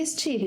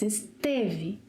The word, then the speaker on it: esteve: Don't say estive, it's esteve.